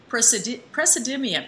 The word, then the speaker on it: praseodymium: know what that is of course, neodymium and praseodymium. Did I pronounce that properly?